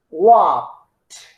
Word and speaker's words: walked: Okay, so the pronunciation is walk. Pronounce the K, but don't open. Walk, and then put t, walked, talked, cooked.